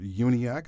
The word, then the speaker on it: Uniacke: the Executive Director, Richard Uniacke. I said his name correctly because I asked for it this time to make sure that it's actually 3 syllables instead of 4 as I was making it.